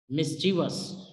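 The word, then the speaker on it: mischievous: यूज किया जाता है मिसचीफ मिस्टीरियस जो करेक्ट प्रनंसीएशन है वह ऐड मिसचिवस मिसचिवस मैं इसी तरह अनदर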